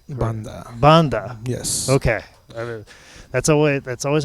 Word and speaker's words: Banda: But Banda. Banda. Yes. Okay. That's always how usually this podcast starts. Is I try and accurately pronounce the guy's name.